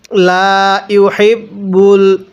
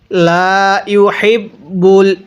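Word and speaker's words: لا يحب: মুখে মুখে পড়বেন পড়ুন লা ইহিববুল মতাদি কিভাবে পড়ব ললাহা এরপরে লা ইহিবুল এই হাগুলো উচ্চারণ করার সময় মুখ দিয়ে হালকা একটু বাতাস বের করবেন তাহলে হাগুলো সহিহ শুদ্ধা উচ্চারণ হবে কিভাবে পড়ব লাহিবুল মতাদি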